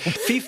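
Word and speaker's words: Phoef: We found out that he pronounces it Fief, but I just think Foof is more fun.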